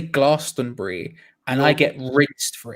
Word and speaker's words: Glastonbury: Glastonbury? Yes. Oh, Glastonbury. See, this is the thing that so my family are from around there, but I say Glastonbury and I get rinsed for it.